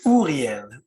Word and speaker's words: Uriel: No, we say Uriel. Uriel. Uriel. Uriel. Yeah, it's a French pronunciation.